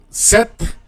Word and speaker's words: cet: letter, for singular, cet, set, and that's masculine, okay, masculine, se, set. We pronounce it, we're going to pronounce it set because there's going to be a vowel sound in the masculine, okay?